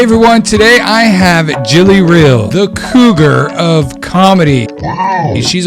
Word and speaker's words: Re: shows down there so my last name is pronounced real which is why i